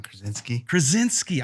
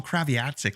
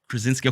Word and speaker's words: Krasinski: I can never pronounce his last name. John Krasinski. I want to call him Kraviatsik, like Chantel for some reason. Krasinski.